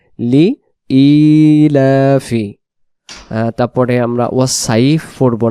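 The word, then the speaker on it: لإيلاف: তাহলে যে শব্দগুলো বারবার পড়বো সেগুলো হলো আমরা সূরাতুল কুরাইশ পড়ার ক্ষেত্রে অনেকে বলি লিলাফি। লিলাফি না উচ্চারণ হবে লি ইলাফি।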